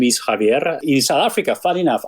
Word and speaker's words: Javier: world traveled person and you know that a Spanish name is pronounced Javier so thank you for